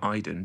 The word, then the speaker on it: Aiden: Aiden it's spelled um she calls him Iden but it's spelled Aiden like we we we'd say Aiden in England but Iden in the game and um you can